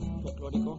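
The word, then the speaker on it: folklórico: Folklorico.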